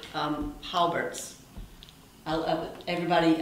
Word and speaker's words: Colbert: you just said um holbert's i love everybody i say holbert but it's all i guess colbert's what the locals say do do